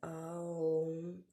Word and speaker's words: Om: C'est prononcer Aum et M à la fin.